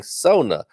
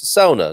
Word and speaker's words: sauna: is sauna and yes that's why i'm saying sona and pronounce it wrong uh it is sauna not saun sauna as we say in